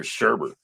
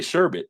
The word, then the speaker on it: sherbet: always pronounced I guess you'd always hear sherbert but it's really sherbet there's no second off and